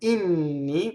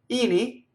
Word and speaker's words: inni: So now we have the word Inni, which is the plural word for hymns in Italian, and it has a double N. Inni, no, it's not a word. Inni.